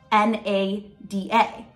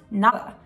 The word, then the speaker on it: nada: in most Spanish dialects when you say the letter D in the middle of two vowels like in a word you don't actually say the letter D so like take the